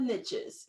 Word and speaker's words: niche: well it's really pronounced niche zarina i said whatever i pronounce it niche and that's the way i'm gonna do it because it rhymes with um with rich so i want for